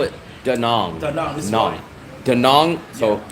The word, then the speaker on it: Da Nang: call it da yes I always call it daong daong daong so it's right my my my